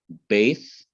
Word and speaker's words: Beth: Okay, but when Dagesh Lene goes into it, it becomes Beth by name and B or B by pronunciation.